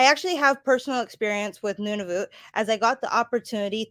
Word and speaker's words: Nunavut: to it and then nunavut is i used to pronounce it none of it and a lot of people still do so it's almost like